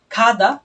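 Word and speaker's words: 구: আর হচ্ছে খু মানে নয়। যেটা খুলে নয়। এটা হচ্ছে খু। এটা একটু আগে ঠিক আমরা যেটা বলেছিলাম গটা প্রথমে উচ্চারিত হলে খ এর মত উচ্চারণ হবে।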